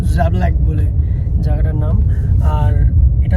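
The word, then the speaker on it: Žabljak: তো আজকে আমরা যে জায়গাটায় এসেছি ওটার নাম আমি জানি না আমি ঠিক প্রোনাউন্স করছি কি না, তো জাবলাক বলে জায়গাটার নাম।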